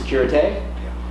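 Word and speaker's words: Sécurité: So Mayday, pom-pom, and the third level is it's pronounced Securite.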